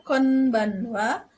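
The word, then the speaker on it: こんばんは: Berikutnya adalah konbanwa. Konbanwa. Ya, meskipun ditulisnya konbanwa, tetapi dibacanya atau diucapkannya konbanwa.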